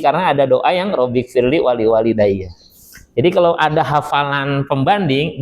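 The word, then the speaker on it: وَلِوَالِدَيَّ: Nah, wa yang pertama pendek, yang kedua panjang. Waliwalidayya, ya.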